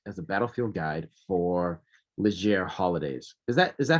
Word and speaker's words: Leger: he has worked as a battlefield guide for legere holidays is that is that how you pronounce it sir it's these ledger holidays in the uk but but it looks